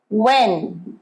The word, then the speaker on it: when: এইটার pronunciation where, where নয়, হ নয়, where এটা when, where, when, where, when নয়, হ উচ্চারণ হবে না, where, when, once more, where, when, wonderful।